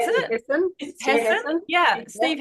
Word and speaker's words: Hassan: Is that how you pronounce it? Hassan. Hassan? Yeah, Steve Hassan.